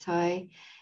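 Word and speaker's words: Thay: tay or tai tai spelt t-h-a-y but pronounced thai and um a remarkable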